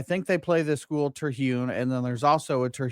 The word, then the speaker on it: Terhune: Hi, Terhune.